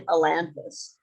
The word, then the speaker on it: Ailanthus: The important thing at the moment is I'm Ailanthus. Sorry, I mumbled my own name. Ailanthus. I'd added an extraneous syllable.